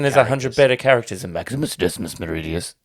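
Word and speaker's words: Maximus Decimus Meridius: 100 better characters in Maximus Decimus Meridia yep that's how you have to say it if you say his full name you have to say it like that acus Meridius um commander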